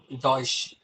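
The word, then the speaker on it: Deutsch: ஏன்னா எனக்கு ஒரு text book first text book வந்து ஸ்டார்ட் அது எப்படி ப்ரொனவுன்ஸ் பண்ணுவாங்க, டஷ்ன்னு சொல்லுவாங்க ஜெர்மன் லாங்குவேஜ். டாய்ஸ். டாய்ஷ்.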